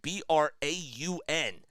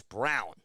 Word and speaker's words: Braun: Again, he spells his last name B-R-A-U-N. So you would think that if you were just looking at his name, that it would be spelled like it would be pronounced Braun, but it's not. It's Brown.